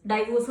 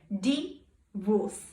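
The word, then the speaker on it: divorce: അറ്റ് the pronunciation of the word ഡൈവോഴ്സ് ഡൈവോഴ്സ് എന്നല്ലേ നമ്മൾ പറയാറ് ബട്ട് ആക്ച്വലി അത് ഡൈവോഴ്സ് അല്ല ഇറ്റ് ഈസ് ഡി വോസ് ഇറ്റ് ഈസ് ഡി വോസ് split ചെയ്യുക അത് കഴിഞ്ഞ ശേഷം പ്രൊനൗൺസ് ചെയ്യേണ്ടതാണ് instead of ഡൈ you have to ആഡ് the word ഡി സോ it will be like ഡി വോസ് സോ ഡിവോഴ്സ് ഡിവോഴ്സ് ആൻഡ്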